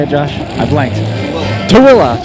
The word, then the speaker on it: Tooele: how do you say it Josh I blanked toilla toilla Utah I totally missed that all right and